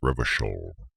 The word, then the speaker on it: Revachol: Revocol is pronounced Revachol. I'll be the judge of that. It's Revocol, as in like alcohol, but Revocol.